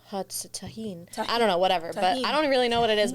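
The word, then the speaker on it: Tajín: you would cuz yeah in Mexico they they sometimes pronounce the J's like H instead of tahen I don't know whatever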